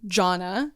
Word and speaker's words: Jonna: reaching conservatives um Jonna is how you say it uh if John is